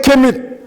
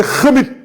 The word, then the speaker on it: khemit: les intellectuels, tous les kémites, ceux qui prônent le kémitisme, tout en leur disant que le mot est même mal prononcé. Parce que ce n'est pas kémite, c'est khemit.